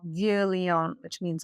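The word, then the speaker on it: Vieux: the next exit at V Leon." Well, if you're not familiar with how French is spelled, V is spelled V I E UX.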